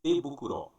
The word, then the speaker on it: tebukuro: Agora observe, tebukuro, tebukuro. Mudou um pouquinho a pronúncia aí, tebukuro, a luva.